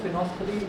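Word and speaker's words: phenolphthalein: इसमें L silent होता है, इसको फिनोफ्थलीन बोलते हैं।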